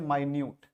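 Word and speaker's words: minute: लेकिन नीचे वाला जो सेम स्पेलिंग है, लेकिन नीचे वाला का प्रोनाउंसिएशन जो है वो डिफरेंट है। इसको पढ़ते हैं माइन्यूट, इसको पढ़ते हैं माइन्यूट, इसको हम पढ़ेंगे माइन्यूट।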